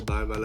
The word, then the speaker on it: Bergwall: My name is BERGWALL, or BERGWAL'S as it's pronounced in Sweden, and today I want